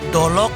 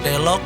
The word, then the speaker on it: delok: Y kita sudah sampai di eskimnya oge salah satu kawan kita yang di sebelum yang mungkin jadi dolok atau delok beda pengucapan tapi satu arti yaitu gunung atau bukit.